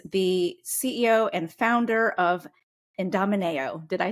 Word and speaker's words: Idomeneo: Vicky who is the CEO and founder of IND Domino did I say it correctly Vicki you did IND Domino that was perfect awesome well I'm excited for